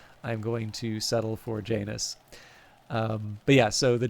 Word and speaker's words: Janus: Latin classes informed me that apparently the correct pronunciation is yanus but I going to settle for Janice um but yeah so the January in fact